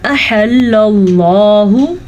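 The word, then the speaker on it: أحل الله: ہے ما احل اللہ۔ ہا کے تلفظ کا خاص خیال رکھنا ہے اور حمزہ کو بالکل بھی لمبا نہیں کرنا، اس کو پڑھنا ہے احل اللہ، ٹھیک ہے۔ احل اللہ،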